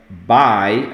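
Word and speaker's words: buy: Pronuncia by, apesar de ser escrito com U, tem som de A e by. É a mesma pronúncia de tchau?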